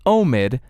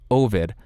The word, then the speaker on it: Omid: future of this episode, just know that it is Omid, not Ovid.